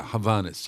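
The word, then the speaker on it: Hovhaness: Oh, yeah, Havanas.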